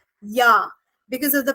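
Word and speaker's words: ja: Y in its spelling so if there is word called J A then in English we would read it as J correct but in German language we will actually read it as yah because of the pronunciation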